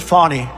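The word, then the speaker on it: Fani: thing is so corrupt Fanny is just the beginning it's not really excuse me I'd like to apologize to Fanny it's f a n i she pronounces it Fon I don't see it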